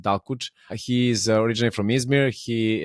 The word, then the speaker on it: Dalkuç: The ending can mean S in Turkish for audience that doesn't know. So I pronounce it Dalkuç.